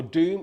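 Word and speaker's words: doum: Okay, so our doom is spelled D-O-U-M, and our tek is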